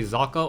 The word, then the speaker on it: Socke: side of the map I believe it's German so the people told me that or the my German friends told me that it's pronounced zaka meanwhile we haveu or